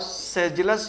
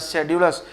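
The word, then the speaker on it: sedulous: असिडुअस और सेजुलस या शेड्यूलस, दो तरह के प्रोनाउंसिएशन इसके हैं, सेजुलस भी कहा जाता है, शेड्यूलस भी कहा जाता है।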